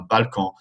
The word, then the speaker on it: balcon: Un balcon, nasal sound at the end, un balcon.